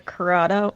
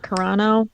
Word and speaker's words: Carano: carla gonina i don't i so i could pronounce the names oh uh gina corrado carano yeah gina carano uh i i love call